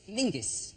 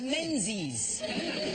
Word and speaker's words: Menzies: His name is Mingus. Mingus, yes. Scots. Yeah, Yeah, but it's pronounced, it's spelled M-E-N-Z-I-S. Yes. Well, why are you looking at me like I'm insane? He's got That's Menzies.